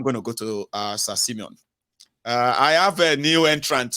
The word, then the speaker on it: Simeon: Let's go to Simon, sir. You there? Yes. Can you hear me? Can you hear me? Loud and clear, Go please. ahead. Oh, perfect. My name is pronounced Simeon. Oh, it's Simeon. Okay, nice one.